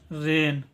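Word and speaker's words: rain: का उच्चारण होगा र, आर का उच्चारण होगा र, ठीक है। और ए आई एन जब भी साथ में होगा तो इसका उच्चारण होता है एन, ठीक है। इसको पढ़ेंगे रेन, इसका उच्चारण करेंगे रेन।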